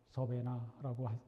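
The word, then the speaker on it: Savannah: 존웨슬리는 조지아주의 사바나 서베나라고 발음하죠.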